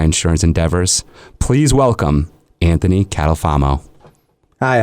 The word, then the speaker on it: Catalfamo: Partners in my insurance Endeavors please welcome Anthony catalfamo Hi how are you welcome Anthony thank you